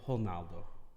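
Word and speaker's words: Ronaldo: different but like uh i know the r at the beginning of a word no it's actually uh pronounced like uh almost like an h like romaldo would be honaldo hornado yeah hello near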